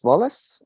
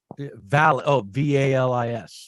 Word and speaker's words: VALIS: I tried that Wallace, or am I saying it right? That sounds nice. That's VALIS, Valis, and it stands for Valis.